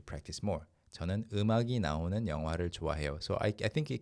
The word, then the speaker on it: 영화: But the standard pronunciation is 영화.